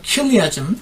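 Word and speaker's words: chiliasm: 이거를 발전을 시켰습니다.이 이 방법과 그리스 철학의 영향으로 인해서 일부 지도자들은요 천연왕국수죠 당시에 어 칠리아 그 그리스에서 나온 킬리아즘 칠리아즘이라고 미국 사람들은 발음하는이 천년왕국술이요 어 원래 약 300년대에 어거스틴이 저거를 망쳐 놓기 전까지는이 AD 100년 200년 300년 초대 기독교인들이 들이 공통된 믿음이었습니다.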